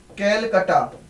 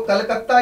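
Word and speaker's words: Calcutta: Britishers की capital थी कैलकटा। वो कलकत्ता इसका नाम है बेसिकली, तो बेटा इसे कलकत्ता बोलते हैं।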